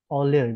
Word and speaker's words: Euler: Sampai Euler membuktikan, Euler bacanya ya.